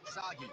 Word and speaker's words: Sagi: Cliched burden boy of action who will save us all is named Sagi. Rhymes with Saki. Saki!